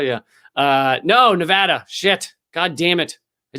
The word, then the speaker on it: Nevada: Nevada? Yeah. No, Nevada.